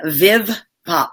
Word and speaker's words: Viv Pop: Viv Pop, am I pronouncing that correctly? Yeah. Viv Pop, VIVPOP.